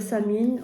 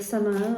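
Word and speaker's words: Samhain: qui s'appelle Sam in alors on peut dire samine on peut dire ça main enfin voilà il y a des personnes qui le prononcent différemment qui en fait la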